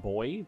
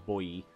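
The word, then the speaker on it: Boii: true Rio Umbria Bui I think a lot of people pronounce it boy but if I'm I'll if I remember my Latin correctly it was boy II the SE beans lots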